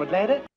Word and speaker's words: Atlanta: 네, 애틀란타인데 Atlanta 이렇게 발음하고 있습니다. NT 발음 보이시죠? 그래서 NT의 T 발음이 빠지면서 Atlanta 이렇게 발음이 되는 겁니다.